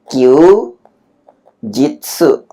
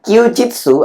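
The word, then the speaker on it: 休日: Q jitsu Q ini artinya istirahat. Jitsunya ini hari jadi hari istirahat atau hari libur ya. Ky jitsu adalah hari libur.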